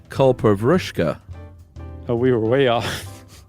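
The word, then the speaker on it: kalpavriksha: the coconut when you guys talked about the culprishka. First of all, it's not pronounced that way. Uh it is pronounced kulpavushka.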